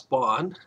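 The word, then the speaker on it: Bagne: g n e Bon it's pronounced Bon but it's spelled b a g NE it's a French word it won't go into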